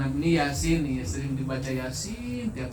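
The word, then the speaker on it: يس: Nah, ini Yasin yanya dua harakat. Kenapa dua harakat? Kategori rumus ya. Sinnya enam harakat kategori rumus alim.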